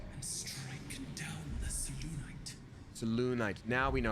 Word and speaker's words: Selûnite: Selûnite. Now we know how to pronounce that.